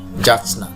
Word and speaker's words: যাচনা: এই উচ্চারণটি অনেকে আমরা ভুল করে থাকি। সঠিক উচ্চারণ হচ্ছে যাচনা, যাচনা, যাচনা।